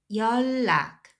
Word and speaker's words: 연락: 연락, when you pronounce those l affects right here, so you'd pronounce 열, like instead of a final consonant n, you'd pronounce l instead.